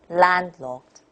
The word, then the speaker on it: landlocked: So landlocked, landlocked. Emphasis on the stretched syllable, land.